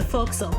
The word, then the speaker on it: forecastle: So about the word forecastle. Oh, you mean the folksel. What?! It's because English isn't a fully phonemic language.